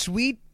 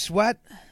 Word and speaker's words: Sweat: It's not pronounced sweet. It's Sweat.